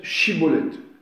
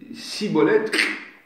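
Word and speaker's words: Shibboleth: si on peut dire, il faut qu'ils prononcent Chibolette. S'ils ne disent pas Chibolette, Cibolette, vous lui coupez le cou.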